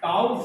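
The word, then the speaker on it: tau: बल आघूर्ण, इसका सिंबल भी है बल आघूर्ण को हम लोग टाउ से प्रदर्शित करते हैं, टाउ से प्रदर्शित करते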